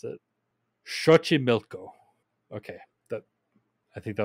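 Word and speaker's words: Xochimilco: try to pronounce this it has an X in it which is really awkward in Spanish but I looked it up before this so I'm gon to try to pronounce it Shi milco okay that I think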